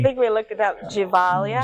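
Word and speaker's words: Gevalia: I already forgot how to pronounce it. Giovanni. I think we looked it up. Givalia. Givalia, that's it.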